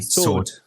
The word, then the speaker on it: sword: you say it okay take take the W out entirely sword sword oh yeah yeah there you go you just have to ignore the W okay but anyway I